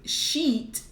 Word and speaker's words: sheet: Because with sheet, it has double E, it has an E sound, so it's like E.